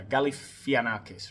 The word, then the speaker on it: Galifianakis: Galifianakis, right?